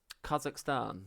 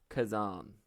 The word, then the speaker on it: Khazan: check how you say it the first Berserker Kazakhstan no first Berserker Kazan that's what I'm well I say I'm reviewing